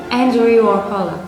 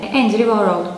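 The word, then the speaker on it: Andrew Warhola: Andrew Warfall. Aslında tam ismi böyle. Andrew Warall diye duymuşsunuzdur. Telaffuz genelde böyle edilir.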